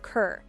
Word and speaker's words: Carr: his parents were Scots using the Scottish pronunciation of Kerr but in the English Royal Court he was known as Robert Carr and then was referenced